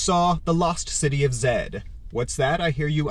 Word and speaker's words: Z: lost city of Z well in most European nations they actually pronounce z as Zed right it's just a